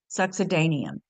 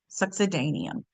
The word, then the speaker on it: succedaneum: Succedaneum, that's how you pronounce it. Succedaneum.